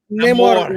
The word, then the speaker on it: Namor: Namor rhymes with Chris Gore, so that's all you need.